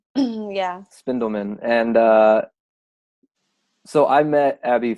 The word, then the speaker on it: Spindelman: do you say your last name findell minh spindel Minh yeah spindle Minh and so I met Abby through Rachel which